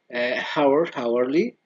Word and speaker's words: hourly: History, historical, hourly, or the H is silent.